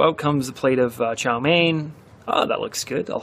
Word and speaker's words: chow mein: All right, so let's practice our pronunciation. Repeat after me. Plate. Plate. Plate. And the second one is chow mein.